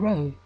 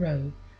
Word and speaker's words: rho: the letters chi and rho as a monogram or a person's initials created artistically with intertwined letters. The chi rho is made up of the letters chi, pronounced k, and rho, pronounced r, the first letters of Christ's name.